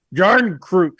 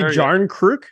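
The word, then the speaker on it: Järnkrok: No, but that's not what he said. It was a hard J. Jarnkrok.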